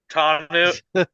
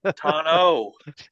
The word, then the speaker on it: Tano: Tanu tano.